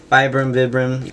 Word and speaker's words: Vibram: Vibram, I'm going to say Vibram even though that's supposedly the incorrect pronunciation, but yeah, it's just a nice little detail that they add.